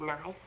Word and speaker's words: knife: is a silent letter so are the K and E in the word knife when we listen or say the word knife we hear only the letters n i and f the letters K and E are silent to learn to spell